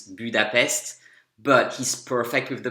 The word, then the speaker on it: Budapest: So the only mistake here is that he says Budapest and in French it's Budapest, but he's perfect with the prepositions.